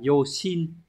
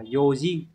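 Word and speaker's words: 用心: Mặc dù hai chữ này đều là kanji của N4, N5, nhưng từ này các bạn không đọc là Yoshin mà các bạn phải đọc là Yojin.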